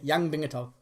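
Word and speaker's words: Yan Bingtao: And that's exactly how you pronounce it as well. I even checked today. Yang Bingato.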